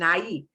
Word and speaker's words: ahí: They're going to be talking about aquí, ahí, ahí. And that H, silencio. No se pronuncia. You do not pronounce the H in ahí.